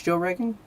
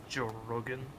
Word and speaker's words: Joe Rogan: Not that I feel ill-informed, but who is Joe Reagan? Joe Rogan. Joe Rogan. I guess I pronounced that wrong.